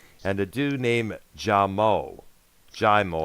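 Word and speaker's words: Jaimoe: the dude named jamo jamo I think it is it's spelled j-a-i-m-o-e what's the deal in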